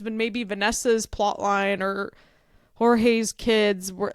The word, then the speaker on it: Jorge: George. Isn't it? Jorge. Oh my god, I'm sorry, so it's spelled like George. That so threw me right off.